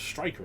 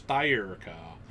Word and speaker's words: Styrka: I thought it was Striker at first, but it's Styrka.